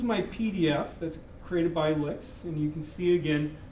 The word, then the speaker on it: LyX: Uh, do note that, you know, this is again pronounced as an LI KS, L I CS, uh, licks.